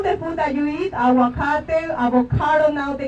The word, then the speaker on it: aguacate: All the food that you eat, aguacate, avocado, now they call it, don't call it avocado. If you cannot pronounce it, learn.